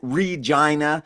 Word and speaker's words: Regina: That is how you pronounce it. Regina, Saskatchewan.